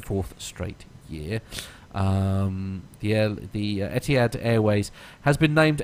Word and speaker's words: Etihad: airline is I don't even know how to pronounce Etihad no Etihad is fine it's the newspaper that it's from